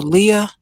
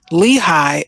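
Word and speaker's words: Lehigh: a window of the Leah I'm sorry that's not how you say it Lehi Acres residence closed on him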